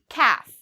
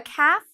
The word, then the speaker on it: calf: Calf, okay? So a calf is a baby cow. For this word, calf, you do not need to pronounce the L.